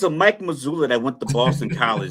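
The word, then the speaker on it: Mazzulla: Jason and testament to Mike Mazoula and his uh I keep I know I'm saying his name wrong. Is it Joe Mazula? Joe Mazula. I keep saying Mike Mazula for some reason.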